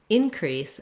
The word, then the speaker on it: increase: or a verb so if i say um in increase as a noun then i have first syllable stress i'm gonna the i had an increase in viewers um there was an increase in um covet 19 cases the in is long and the crease is short if i say it